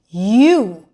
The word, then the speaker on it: yew: U.